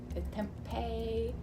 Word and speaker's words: tempeh: today we're gonna learn how to cook tempeh tempeh that's how you pronounce it so um so when you're looking